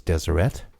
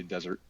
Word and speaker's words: Deseret: read them, but I didn't know it was Deseret. Yeah, most people who aren't from here would say desert or Deseret.